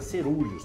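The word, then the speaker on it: coeruleus: Ô, Liberto, escreve coerulel, se pronuncia cerúleos, tá?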